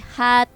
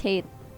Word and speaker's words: Hate: And then it looks like IPT hat 4-3. Hat 4-3. That's how you pronounce his name? No, it's Hate.